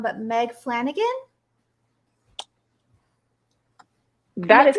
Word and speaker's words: Flanagan: And Meg, I'm sure I'm going to get your last name wrong, but Meg Flanagan?